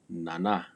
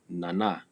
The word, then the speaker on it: nana: Note on pronunciation. Typically, for the most part, all Numu words, the stress or the accent is placed on the second syllable. Nana. It is not nana, nana. No, it is nana, man.